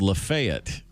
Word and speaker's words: Lafayette: street in Hopkinsville Kentucky called Lafayette as opposed to Lafayette well that's what we